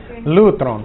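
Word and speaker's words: λύτρον: Lutron es griego. Lutron, con un acento en el U.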